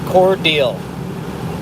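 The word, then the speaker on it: Cordele: the smithville store doesn't look as organized it's pronounced core deal or deal cornell or cordial um the radar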